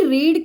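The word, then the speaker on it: read: आएगा पास्ट में, क्योंकि रीड की स्पेलिंग रीड, देखिए रीड की ना स्पेलिंग देखिए यहां पे रीड का V1 ये रेड कहेंगे हम लोग, स्पेलिंग सेम है पर उच्चारण अलग है।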